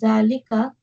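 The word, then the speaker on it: ذلك: Note, Zalika is pronounced Zalika, but it is written without the alif.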